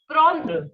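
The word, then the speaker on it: prendre: remains to take again always remember the sound of e n is on so we have prawn which means to take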